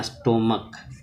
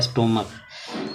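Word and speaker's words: stomach: तो ये बात ध्यान में जैसे लिखते हैं स्टमक एस और टी ओ और एम ए सी एच स्टोम तो इसको क्या पढ़ेंगे स्टमक इसका उच्चारण होगा स्टोम स्टमक तो इसका जब पलर करेंगे तो एस टी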